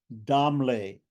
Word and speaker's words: Damale: Damale is pronounced as Damle in Marathi or Hindi.